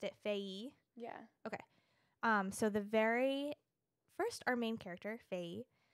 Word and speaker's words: Faye: Which on the interview, they pronounced it Faye.